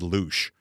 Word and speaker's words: Looshe: This guy's been on my radar for a long time probably because his last name rhymes perfectly with what he is. His name is Chad Looshe. Yes, it does rhyme with douche.